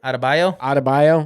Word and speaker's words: Adebayo: Adebayo.